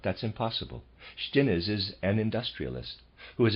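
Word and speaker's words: Stinnes: the german labor force readers aside shin is pronouncing it that way is spelled s t i n n e s and the readers aside of course not that's impossible shtines is an industrialist who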